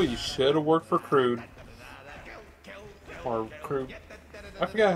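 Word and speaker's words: Gru: to be expendable, you should have worked for Crude. Or Crude. I forgot how you say his name, but the guy from Despicable Me 1 and 2. Groot. Yeah, there we go. It's just Groot.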